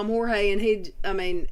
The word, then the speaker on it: Jorge: but george spells his name the spanish way j-o-r-g-e and she called him jorge i was like